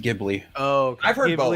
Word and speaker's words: Ghibli: but So, it's pronounced Ghibli.